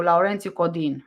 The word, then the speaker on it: Laurențiu Codin: So Laurențiu Codin, that's how you pronounce it in Romanian.